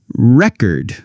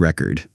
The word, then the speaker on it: record: Listen to this record. That's a noun, like a music record. But record, that's a verb, like to record a video.